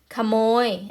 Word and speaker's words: ขโมย: ไม่ ประวิสรรชนีย์ เหมือน กัน มา ดู นะ คะ ขโมย อ่า มา จาก ภาษา เขมร นะ คะ ขโมย